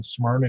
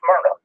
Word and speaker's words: Smyrna: Paul, the people that born and raised around here calls it Smyrna. People that moved in and don't know how to pronounce it call it Smyrna.